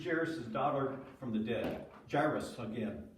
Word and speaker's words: Jairus: Jairus, again. Jairus, it rhymes with virus, okay?